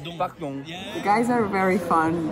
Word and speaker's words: pardon: With "dong" at the end. "Pardong."